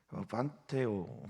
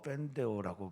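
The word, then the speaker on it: πενθέω: 통한이 여기지도 않았다라고 하는 이 판테오 혹은 뭐 펜데오라고 발음하는 이 슬프하다, 또는 예수님께서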